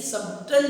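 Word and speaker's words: subtle: देखिए सटल जैसे स्पेलिंग दिख रही है बट इसको पढ़ते हैं हम सटल है, या इसको हम वेरी फाइन भी बोलते हैं।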